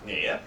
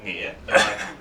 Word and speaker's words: Nghia: But then, so the way you say my name properly is Nghia, N-G-H-I-A, Nghia.